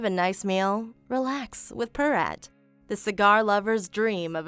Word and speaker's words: Piraat: the company that makes it it's fantastic it's pyrot ale it's very very good and that's a p-i-r-a-a-t yes you will not spell it pirate um unless you want something else